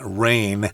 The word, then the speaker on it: reign: here rain is r e i g n rain and that is the uh well it's pronunciation is the same as the stuff that